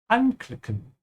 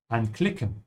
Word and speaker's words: anklicken: Whenever you have a separable verb, the prefix should be emphasized. So always say anklicken und nicht anklicken.